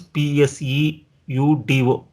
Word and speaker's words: pseudo: PSEUDO pseudo terminals. P is silent.